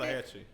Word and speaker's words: Tallahatchie: Tallahatchie.